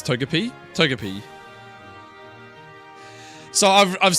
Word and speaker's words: Togepi: Barack, how do you pronounce Togepi? Togepi.